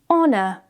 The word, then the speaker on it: honor: When the H is at the beginning of a word, usually of French origin, we can remove the H. For example, honest, hour, honor, air.